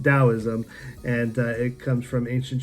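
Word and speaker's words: Taoism: but this is actually the wrong translation it's pronounced Daoism and it comes from ancient Chinese philosophy and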